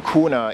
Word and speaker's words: kuna: So the way that I remember the name kuna is it rhymes with Luna, and Luna, of course,